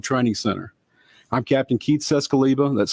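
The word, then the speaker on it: Czeskleba: and Pam Bearfield Training Center I'm captain Keith cescaliba that's spelled k-e-i-t-h-c-z-e-s-k-l-e-b-a with the Hoover Police Department joining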